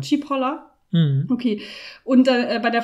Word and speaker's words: Cipolla: Wie hast du den Nachnamen ausgesprochen? Cipolla.